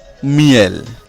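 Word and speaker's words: miel: এর পরের শব্দটি হলো মিয়েল। মিয়েল, এম ই এল, এই শব্দের শেষে এল রয়েছে এবং এল এর উচ্চারণ হচ্ছে। তাহলে শব্দটি কি? মিয়েল।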